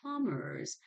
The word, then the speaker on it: plumbers: currently a shortage of plumbers, so we write plumbers, but B is not pronounced.